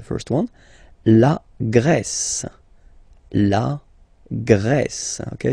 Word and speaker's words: Grèce: La Grèce. Okay, so remember gr, gr. And then this accent grave like that, open. Grèce.